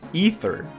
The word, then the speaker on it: Ether: all kind of came together I realized it's pronounced ether but out of force of habit and accent